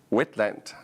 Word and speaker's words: Wentland: So I'm here at the MeCaht conference and we're talking to Gaby Wentland. How did I pronounce it correctly?